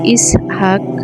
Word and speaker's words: ইসহাক: হযরত ইসহাক আলাইহিস সালাম শব্দের প্রকৃত উচ্চারণ ইসহাক এটা ইব্রানি ভাষার শব্দ আরবি ভাষায় এর অনুবাদ হল ইজহাক বাংলা ভাষায় এটা হাসার